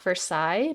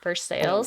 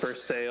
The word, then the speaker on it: Versailles: I think I had a friend who was from Indiana, and he said there is a place called not Versailles, but you pronounce it Versailles. Versailles.